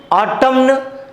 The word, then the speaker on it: autumn: Okay, so autumn N is silent and condemn N is silent. Okay, but here we are not pronouncing autumn condemn అని మనం pronounce చేయట్లేం, but spelling రాసేటప్పుడు మాత్రం N అనేది రాస్తున్నాం.